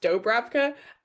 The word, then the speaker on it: Dubravka: So I picked the name Dubravka, which is, I think, normally meant to be pronounced Dobravka, and then just had her personally insist that it was pronounced Dubravka and insist that her name was Du rather than Doe.